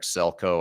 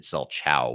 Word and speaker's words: Selchow: of this but uh it's celco I I said selchow which is actually how you spell it so it's d